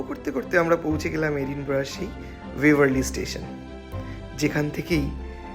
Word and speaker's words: Edinburgh: English স্পেলিংটা দেখে এডিনবার্গ মনে হলেও স্কটিশ প্রোনাউন্সিয়েশন কিন্তু এডিনব্রা।